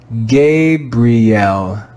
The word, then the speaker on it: Gabriel: read this word together gabrielle gabriel gabrielle do you hear the classical sound in the letter i gay bri l gabriel we learned that when